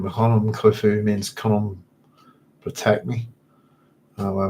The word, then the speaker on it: Khufu: Remember, his name was Khufu at the time of his reign. His name was probably pronounced as Kayafi. And during the Hellenized era as Kuf.